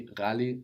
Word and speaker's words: ghali: A strange sound which we don't often encounter in Swahili. Ni rali. Ni rali zaidi. Ni ghali zaidi.